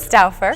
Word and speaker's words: Stauffer: Patrick Berry and Krista Stauffer. Is that correct? Stauffer. Stauffer. Yep. I've been going back and forth with her on how to pronounce her name.